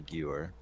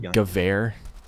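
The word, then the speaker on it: Gewehr: of time to react yeah let P the Geer such a weird name for a weapon the Geer it's actually pronounced gav oh not going to lie I watch watch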